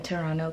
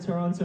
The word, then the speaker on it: Toronto: Toronto. Without the T. No. No T. No T. Like Aromas. Yeah. Toronto. Yeah. I'm sorry that I said Toronto in the beginning.